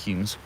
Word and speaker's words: Holmes: So although it's spelled Holmes, it's pronounced Humes.